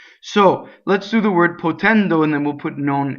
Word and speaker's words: potendo: And gerunds in Italian are open. Endo, right? So both of the O's are closed. Why? Because the accent is on the E vowel, right? So anything that's on the non-stressed is closed.